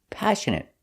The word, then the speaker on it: passionate: Passionate. The stress is on the first syllable, passionate. And the next two syllables are pronounced the same, passionate.